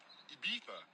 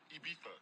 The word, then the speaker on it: Ibiza: Ibiza, Ibiza, yeah, it's pronounced Ibiza, actually.